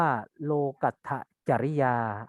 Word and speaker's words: โลกัตถจริยา: ประการ ที่ เร่ง อ่า อัน นี้ เป็น ลักษณะ ภาษา บาลี นัก เรียน อ่าน ว่า โลกัตถจริยา อัน นี้ อ่าน ว่า